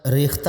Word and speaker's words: ریختہ: یہ لفظ ریختہ بولا جاتا ہے، اس کا درست تلفظ ہے ریختہ۔ خان آرزو کا خطاب